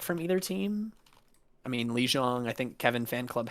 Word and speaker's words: Lijiang: I mean, Lijiang, I think Kevin Fan Club has map pick, right?